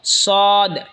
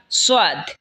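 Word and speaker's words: ص: এরপর হলো সদ। সদ জিহ্বার আগা সামনের নিচের দুই দাঁতের আগার দিকে লাগা উচ্চারণ হবে সদ অথবা সোয়াদ, দুটোটাই বলতে পারেন।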